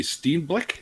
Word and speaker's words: Steenblik: today I'm talking with my friend Steve Black is that how it's pronounced yeah yeah yeah all right and he's